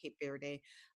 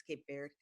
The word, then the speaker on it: Cape Verde: I think I pronounced it Cape Verde, but it's Cape Verde.